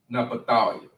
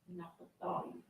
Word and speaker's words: Naphtali: And then in the Hebrew, it's pronounced Naphtali. Naphtali.